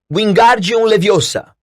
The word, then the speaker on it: Wingardium Leviosa: estava tendo muita sorte wingardium leviosa ordenou sacudindo os braços compridos como Paz de Moinho você está dizendo feitiço errado harrylvio Hermione corrigir aborrecida bem pronunciado e longo diz você então que